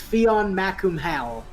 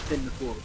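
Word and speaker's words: Fionn mac Cumhaill: If you read it as it's spelled, his name would be pronounced Fion Macum Hal, but it's actually pronounced Finn McCool.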